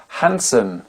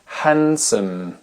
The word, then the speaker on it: handsome: très connus dans lesqueles le D ne se prononce pas on va commencer par